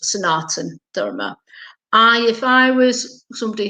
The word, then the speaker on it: Sanatana: tradition sonata nadoma which actually spells but is pronounced sanatana i if i was somebody who was not